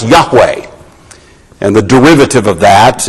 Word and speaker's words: Yahweh: is called the tetragrammaton these four letters in Hebrew that we usually pronounce Yahweh and the derivative of